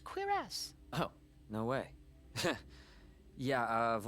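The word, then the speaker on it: cuirass: called again quass quass I thought it was quir cus quass quass all right well um I saw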